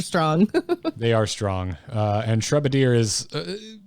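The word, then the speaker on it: Shrubadier: Shrubbadier. That makes so much more sense. Like a bombardier, but they're dropping shrubs.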